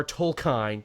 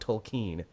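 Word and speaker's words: Tolkien: meet Jr toline yeah it's toline not tolken I've called him tolken forever only to be like no it's chlen and I'm like yeah I guess that is the proper way to say it but tomato tomato I'm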